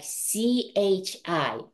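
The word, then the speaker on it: ち: And remember this chi? I know it should have sounded T, but we pronounce it like CHI, chi.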